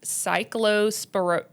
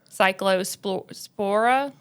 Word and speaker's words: Cyclospora: Um there's been a recent spike in cases of um you're going to have to help me pronounce this word. There's been a recent spike in cases of cyclospora sporiasis So okay.